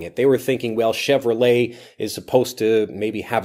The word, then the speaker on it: Chevrolet: one is Chevrolet Chevrolet Chevrolet and not chevre let Chevrolet so it's that French sound Chevrolet at the end Chevrolet and this becomes shortened